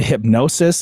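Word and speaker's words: Hipgnosis: So Bieber sold his catalog to Hypnosis, I think it's pronounced. There's a random G in there that I can't really sound out, but the music rights investment company announced this week.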